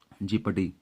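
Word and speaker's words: jeopardy: तो मैं यहाँ बता दूं कि आर ना आपका साइलेंट मोड पे है, तो जी पडी बोलेंगे। देखिए, याद कैसे करेंगे?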